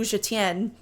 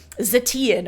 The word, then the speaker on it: Zetian: But again, it's spelled Zetian, and I would have just, like, totally butchered that in my anglophone way and said, like, Zetian or something like that when reading it, or Zadian, who the heck knows.